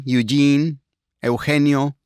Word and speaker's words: Eugenio: You can I I always say that you can call me Eugene. That is in in Spanish. So, Eugeneo.